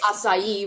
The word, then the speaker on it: Asayi: You pronounce the main character's name Asai, not Asai. Either way. Either way works. Asai, which is correct in terms of Japanese.